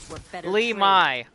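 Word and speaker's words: Li Mei: I thought Oh, I'm sorry. Limi. Limi. That's how they pronounce it.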